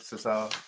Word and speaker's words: Cesar: go he was the it's Cesar isn't it Cesar that's how it's pronounced strange enough Cesar ROM AA is the